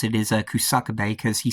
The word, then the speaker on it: Kusakabe: all about Sonon Kusakabe, which that's how you pronounce it, is Kusakabe, because he says it in the DLC when he introduces himself. So yeah, Sonon Kusakabe.